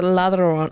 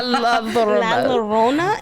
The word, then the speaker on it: La Llorona: I always thought it was a ladrona. Ladrona. La La Llorona is how I was going to pronounce That's how, yeah.